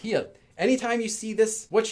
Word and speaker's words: 히읗: This letter is pronounced 히읗.